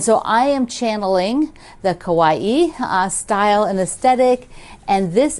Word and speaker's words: kawaii: There is a style of products, images, just sort of culture called kawaii in Japanese. I'm probably not pronouncing that right, but it's kind of like Hawaii, but kawaii.